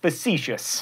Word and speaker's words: facetious: pwned not ponder tweened facia s' no facetious also I swear people